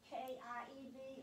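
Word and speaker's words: Kyiv: The Ukrainian way to pronounce K-I-E-V or K-Y-E-V is Kiev. Uh-huh. And the Russian way is Kiev.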